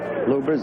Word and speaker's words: Lubbers: Rudy lover's quarrel ubers it's pronounced both ways loopers is probably more technically correct anyway it's the way